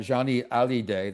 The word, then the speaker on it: Johnny Hallyday: This interested me because I know that Johnny Hallyday, that is the pronunciation, is not very well known in the United States.